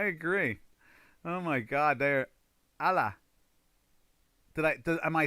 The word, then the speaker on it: Allah: One syllable, Allah. One syllable. Okay, so Allah.